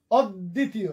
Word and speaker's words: অদ্বিতীয়: আবার অদ্বিতীয়, এই দি, এখানে বফলার কিন্তু উচ্চারণ হচ্ছে না, বাট দটা ডাবল হচ্ছে, কারণ এই বফলাটা মাঝখানে। অদ্বিতীয়।